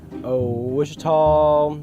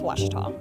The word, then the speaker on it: Ouachita: Wichita. Achita. Ouachita. Is it pronounced Ouachita? Searching for Ouachita Baptist University. Back in Texas, everybody pronounces it Wichita, but really, It's Washita.